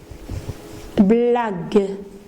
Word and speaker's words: blague: Une blague. Donc vous voyez, j'ai prononcé G. G avec E, j'ai prononcé G. Sinon, je dois prononcer une blague. Non, le mot n'existe pas. Alors pour résoudre ce problème et pouvoir prononcer une blague, j'intercale un